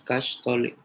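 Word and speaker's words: caxtolli: Sí, qué bueno que, Ilse, qué bueno que escribiste, porque tal vez Kashtoli sí con X y doble L. Kashtoli, porque como se dan cuenta cuando lo pronuncio es Kashtoli.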